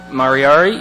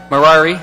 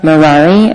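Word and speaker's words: Marrari: and i believe uh miss mariari if i said that correctly mirari thank you is here for a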